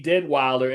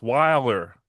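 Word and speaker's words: Deadwyler: You keep putting an extra D in it. Wilder. It's Wilder.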